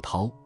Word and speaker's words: 叨: 注意诗中的这个刀字不是唠叨的意思，而是应该念作涛，意思是得到某种恩惠。